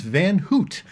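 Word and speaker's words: Van Houtte: a double check, and it is Van Hoot. Pronounced correctly. There you go. I thought it was Hout. That was close. Although it could just be the Canadian pronunciation of the two O's, like roof, that someone's probably going, what?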